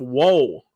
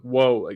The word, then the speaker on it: Woll: And for the Toronto Maple Leafs, it is Joseph Woll. And that's what his real name is. I'm not saying whoa, that's crazy.